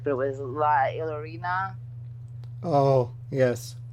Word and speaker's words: La Llorona: And the other one was, I want to do the pronunciation correct, but it was La Llorona. Oh, yes. La Llorona.